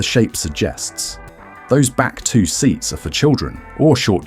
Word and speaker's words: SEAT: It's SEAT, the SEAT Alhambra.